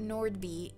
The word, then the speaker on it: Nordby: and nori anything but Nordby you pronounce the D oh yeah my last